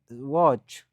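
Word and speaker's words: watch: هر واچ. واچ تماشا کردن. ببینید نظر به شرط گفتیم قبل از سی اچ بیاید تلفظ نمیشه. واچ. واچ تماشا کردن. قبل از سی اچ ما تلفظ نمیشود.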